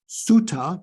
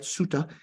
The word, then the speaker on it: sutta: Sutras, or we say in the Pali Canon Sutta, because they don't pronounce it sutra, right? Sutta, that there are illusions to emptiness.